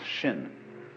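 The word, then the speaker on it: 心: mind in Chinese mind is um this word pronounced shin and shin is here Shin is the heart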